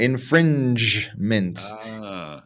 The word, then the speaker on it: infringement: our intellectual property rights that's right that g sound infringement and it's gonna come